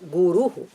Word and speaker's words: guru: darkness is completely gone so guru that should be the correct pronunciation please let us follow